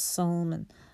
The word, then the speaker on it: Salman: So we were all pronouncing it wrong. It's actually pronounced Salman.